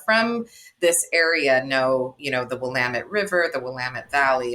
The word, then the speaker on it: Willamette: not the easy is Willamette. So you need to spell that for us, because it took me forever to drop the I. I was always doing the William.